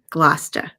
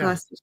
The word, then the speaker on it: Gloucester: It's going to be Am I going to pronounce this wrong? Gloucester.